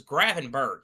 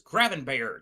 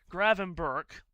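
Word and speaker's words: Gravenberch: guess that I said I always thought it was Gravenber or Grain. I did not know it was Grainber. I did not realize that was how you pronounce his name. I have also gotten a text from Pierre about this. He is saying that it's Graven Burke.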